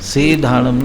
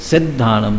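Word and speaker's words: सिद्धाणं: नमो अरहंताणम, नमो सिद्धाणम, सीधाणम नहीं, सिद्धाणम, स में ह्रस्व की मात्रा का उच्चारण और आगे संयुक्त अक्षर है, तो सिद्ध, ये स्पष्ट उच्चारण होना चाहिए।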